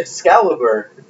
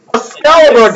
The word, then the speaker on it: Excalibur: do you're an idiot Excalibur Excalibur I said escali a scalibur guys look at it it's a scalibur you just you just collected it with another wrong pronunciation es scalibur a wild